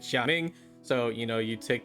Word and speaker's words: Gaming: is actually pronounced like xaing so you know you take the little take you take the G and the a separate it from the Ming and then go like